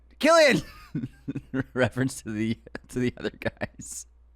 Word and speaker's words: Cillian: Jay Kelly wrote in our Cillian Murphy clip saying we thought his name was Cillian. You come on my FYP, you pronounce my boy's name right, Killian.